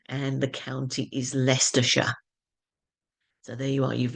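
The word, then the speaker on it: Leicestershire: is the University of leester that's how it's pronounced and the county is lestershire so there you are you've leared how how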